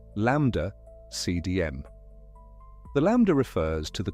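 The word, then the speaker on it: ΛCDM: The standard model of cosmology has a name, LCDM, pronounced lambda CDM.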